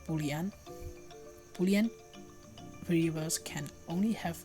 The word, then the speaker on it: Boolean: we can use another data type called buan pronounce buan buan variables can only have two possible values